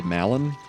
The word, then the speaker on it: Malon: That's why I like to say Malon, is because it rhymes.